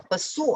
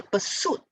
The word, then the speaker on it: pursuit: one is an introduction perhaps it's pronunciation that is not too clear in her pursuit of excellence or pursue of something it should be in her pursuit okay pursue is a verb pursuit is a noun so in her pursuit for something i suspect is the pronunciation all right this one